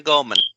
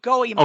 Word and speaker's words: Goemon: Mystical Ninja starring Goemon. Yeah, for N64. And that is how you pronounce the name, Goemon. Okay. That is how you pronounce it, Goemon.